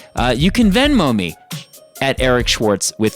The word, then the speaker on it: Eric Schwartz: It's pronounced Eric Schwartz.